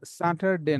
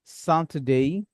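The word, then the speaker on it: Saturday: কোন ইংরেজি শব্দ এ ওয়াই দিয়ে শেষ হলে এ ওয়াই এর উচ্চারণ হবে এই। ফর এক্সাম্পল স্যাটারডে না সানডে, Monday, টুয়েসডে, Wednesday, থার্সডে, Friday না।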